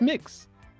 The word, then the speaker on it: Mx: pronounce MX? It's mix.